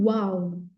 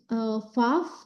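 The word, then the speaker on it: ו: Ada yang tulis vav, tapi sama aja itu. Kalau saya lebih suka huruf pelafalannya w, karena lebih banyak di Ibrani dia dilafalkan dengan w, bukan v.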